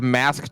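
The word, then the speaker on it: masque: what is it called it's mask charm but it's spelled m-a-s-q-u-e um i wanted to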